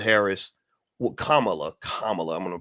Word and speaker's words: Kamala: hear him really tell you exactly why C camela Harris Kamala Kamala I'm gonna pronounce it right uh why kamla Harris was